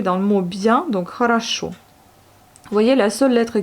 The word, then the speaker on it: хорошо: Il y a 3 O, mais vu qu'elles ne sont pas accentuées, elles se prononcent comme les A, mais elles s'écrivent comme le O.